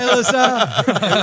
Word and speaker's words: Alyssa: youngest daughter is hi Alyssa quick say hi to Alysa hi and it is it is uh like Melissa without the m at the front of it some people